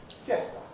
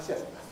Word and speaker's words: siesta: So the word that's spelled like that in Spanish is pronounced siesta. Una siesta. Siesta. When we borrowed that word into English, well, we feel this has got to have three syllables.